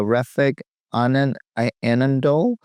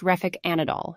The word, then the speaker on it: Refik Anadol: so we'll start with the first one uh refik an Anand um did I pronounce that by the way correctly uh Sam it's pronounced reic anadol you're close let's dive into his piece thank